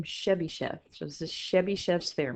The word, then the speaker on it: Chebyshev: You pronounce his last name Chebyshev.